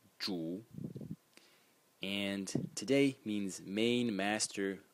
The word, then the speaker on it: 主: is led by the Title Character which is pronounced Jew and today means main Master host Lord landlord